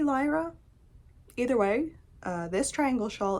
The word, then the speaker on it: Lyra: I want to pronounce this like Lyra, like my cat stepdaughter's name. My stepdaughter who is a cat, her name is Lyra, but it's probably Lyra.